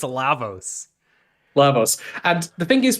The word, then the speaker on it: Lavos: It's Lavos.